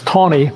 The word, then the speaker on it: Taney: the dred scott decision tani was one of the best chief justices do you agree okay it's tawny first of all i know it's spell